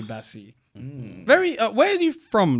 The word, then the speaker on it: Baci: I thought it was Baki at one point, Yeah. but then I heard it pronounced. Said it's definitely Bassi.